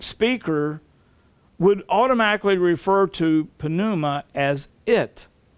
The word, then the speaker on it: pneuma: The Greek word for Spirit is pneuma, P-N-E-U-M-A, pneuma. It's Strong's 4151, and it means spirit or breath or wind. Many English words would start with the letters P-N, where the P is silent, such as pneumatic, pneumonia,